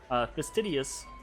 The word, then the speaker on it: fastidious: would say this right fastest idiot Sidious I always put an extra syllable in there fastidious Ezra is pretty fastidious